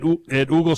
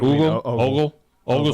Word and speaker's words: Ogle: It says Decatur High School, but is that at Oogle Stadium there? Yes. Is that how you say it? Ogle Stadium.